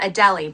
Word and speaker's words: Adelie: I keep wanting to call it Adelie, but it's Adelie is how you pronounce it.